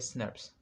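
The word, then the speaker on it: snRNPs: कहते हैं, यानी कि स्नर्प्स। इसको आप लोग अगर प्रोनाउंस करेंगे सो इट विल बी स्नर्प, स्नर्प।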